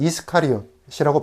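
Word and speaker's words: Ἰσκαριώτης: 헬라어로는 이스카리옷이라고 발음하는데 호칭에 대한 주장이 보통 세 가지 정도로 나닙니다.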